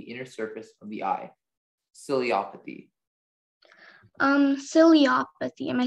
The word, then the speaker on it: ciliopathy: Are there any alternate pronunciations? There's just the one, ciliopathy.